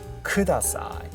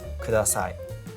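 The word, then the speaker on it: ください: So it's not Kudasai, okay? There is no stress. Actually, it's much flatter than you think. So it's Kudasai, Kudasai, Kudasai. Okay, so it's very, very flat. So there isn't really much fluctuation in the inflection. So make it really flat.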